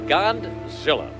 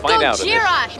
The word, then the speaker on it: Gojira: But Audrey's boss stole the story and reported it on live television, giving the monster the name Godzilla after mispronouncing Gojira. Godzilla. It's Gojira, you moron!